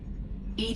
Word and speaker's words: EDI: airlock is a jar why are you named Ed Ed is the phonetic pronunciation of Ed that is an acronym for